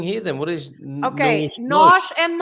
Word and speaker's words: nós: What is nós and nós? The pronunciation is exactly the same.